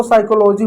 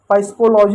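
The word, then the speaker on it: psychology: जैसे फिर इसको साइकोलॉजी पढ़ते हैं। पस्कोलॉजी नहीं पढ़ते क्योंकि एस के साथ है।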